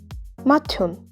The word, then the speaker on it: 맏형: tu plus hu is going to be pronounced as tu, 맏형, eldest brother.